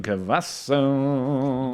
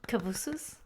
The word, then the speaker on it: Cavazos: We're talking about Saf and Brian Cavasso. Yo, I yo, think yo, it's yo, yo. pronounced Cavazos. Cavazos? Cavazos. Cavazos. This is coming from the lady who Cavanava.